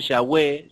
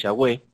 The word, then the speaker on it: Yahweh: más en mi nombre Jehová no me di a conocer a ellos o sea más en mi nombre Yahweh será la traducción correcta acuérdense que en la Reina Valera lo va es un nombre que no aparece la Biblia la traducción correcta es yagüe en mi nombre yagüe no